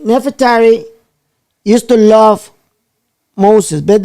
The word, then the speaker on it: Nefertari: what's up how do you how do you pronounce her name net for terry you're doing good okay right nefertari used to love moses but then she changed